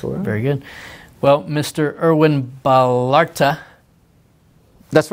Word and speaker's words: Erwin Ballarta: Erwin Ballarta. That's right. You pronounce it well, Trey.